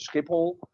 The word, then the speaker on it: Schiphol: So when you land in Schiphol, which is the Amsterdam airport, but we don't call it that, we call it Schiphol.